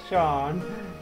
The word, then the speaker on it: Seam: Pronounce Sean.